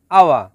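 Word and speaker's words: awak: Number 1, আওয়া, যার বাংলা অর্থ আপনি। শব্দটি লেখার ক্ষেত্রে লিখতে হয় আওয়াক, তবে এর সঠিক উচ্চারণ হবে আওয়া।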